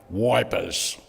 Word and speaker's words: Ypres: so I said, listen, I'm just going to say it like the diggers used to say, wipers, W-I-P-E-R-S, instead of Eep or Ypres.